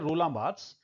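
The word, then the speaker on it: Roland Barthes: 1967 में रोलाथ्स ये इनके नाम को यूं प्रोनाउंस करते हैं। रोलांब्स।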